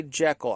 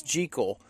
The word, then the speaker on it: Jekyll: But I will tell you, I am probably going to say Jekyll. I know it's Jekyll, like treacle. But I'm probably going to say Jekyll, like, you know, because...